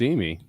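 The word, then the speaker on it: Emigh: it Mike I think I'm pretty sure it's Emy yeah it's Emy I've been saying e and I got called out on air they're like no no it's it's Emy it's Chris e now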